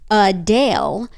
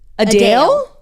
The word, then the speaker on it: Adele: said my name perfectly the correct pronunciation is a Dale not Adele a Dale a Dale yeah uh